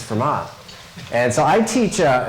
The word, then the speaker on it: Fermat: Um the T is silent, right? So it's FMA.